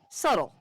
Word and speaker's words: subtle: what uh to answer Leon's question, he asked, "How is subtle pronounced subtle when it has a B in it?" So, the word is subtle, su t, and yet it is pronounced subtle.